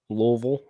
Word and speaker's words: Louisville: Louisville. I just wanted to say that. I'm familiar. It's like you can't use your lips at all when you say it if you want to say it right.